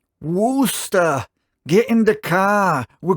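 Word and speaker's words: Worcester: move to Now, I I know I pronounced this wrong in a previous episode, so I'll try and pronounce it better from now on. Wooster, get in the car. We're going to Wooster.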